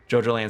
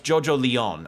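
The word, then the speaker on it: JoJolion: they genuinely look great JoJo land sounds like an Iraqi theme park no it's JoJo Leon I think spelled like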